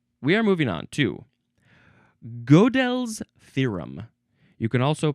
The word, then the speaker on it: Gödel's: All right, now we are moving on to Gödel's theorem. You can also pronounce it Gödel's theorem or Gödel's theorem, something like that.